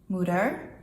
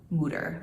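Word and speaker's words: moeder: to it of course the Dutch word of the day is gonna be murder because that is how you say mother in Dutch although I think most people call their moms mama here and not mooder like you wouldn't say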